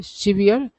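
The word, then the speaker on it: severe: जाएगा पहला है सीवियर क्या है सेवर सेवर है सीवियर नहीं दूसरा है सीवियर पहला वर्ड का उच्चारण होगा सेवर दूसरा का उच्चारण है सीवियर तीसरा है सवर है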